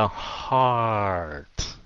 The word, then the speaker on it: heart: Cái chữ heart này kéo dài ra heart.